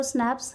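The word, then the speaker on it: Schnapps: We have स्नैप्स, we have sauces. हमारे पास में स्नैप्स है। स्नैप्स है pronounced स्नैप्स, a German drink made from gran,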